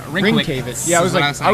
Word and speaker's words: Rynkiewicz: Well, how is it pronounced again? Rynkiewicz. I would not have remember guessed that. I think I was putting at least the accent on the first syllable. It's Yeah, like Rynkiewicz Rynkiewicz.